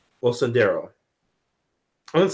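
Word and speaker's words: Osundairo: Osundero. Osundero. I'm going to say that. Abel and Olabinho Osundero.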